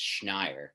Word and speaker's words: Schneier: the pronunciation of it, so it's Schneier. That's the way to do it. You Schneier. I screw it up. No, I don't blame you. I think unless you're a Jew, you shouldn't be expected to pronounce the SCH.